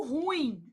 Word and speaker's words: ruim: Por exemplo, quando você fala assim: "Ah, ela é muito ruim". Isso é um erro de prosódia. Você está pronunciando a palavra como paroxítona. E na verdade ela é uma oxítona.